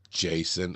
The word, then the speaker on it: Jaycn: He went, he got all defeated, like, Jason.